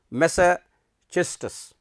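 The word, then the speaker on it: Massachusetts: high school in lawrence justice this is its pronunciation is mesa chestus and began writing poetry fros continued to write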